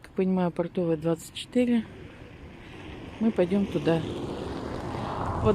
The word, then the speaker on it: Портовая: ним вот у нас портовая 20 я не знаю как правильно бортовая готовая продавая я посмотрела по интернету написано что ударение на второй фокус значит получать спарту